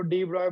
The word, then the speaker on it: de Broglie: French physicist de Broglie, pronounced as de Broglie, ये वाई है, जी silent है, बट हम लोग डी ब्रॉगली बोलेंगे उसको, डी ब्रॉय बोलने से तुम लोगों